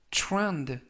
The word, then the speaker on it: trend: 뜻이 되겠습니다 이번 표현은 trend trand trend라고 발음하시면 되겠고요 이때 TR 발음이 그래라고 발음하시면 좋겠습니다 품사는 명사은 유행 추세